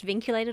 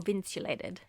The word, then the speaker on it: vinculated: I wonder if it's pronounced vinculated or vinculated. Well, the Spanish will definitely be vincular. So I'm sure it'll be vinculated. I'm going to see if I can squeeze it in the episode.